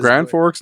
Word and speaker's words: Grand Forks: Grand Forks, North Dakota. Rhymes with Rand Norks.